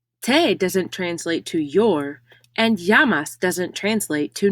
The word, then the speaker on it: llamas: their name in spanish notice again the double l makes the ya sound como doesn't translate to what's doesn't translate to your and yamas doesn't translate to name